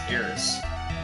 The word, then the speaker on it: Aeris: is embarrass no and I don't pronounce it aith it's AIS okay okay dang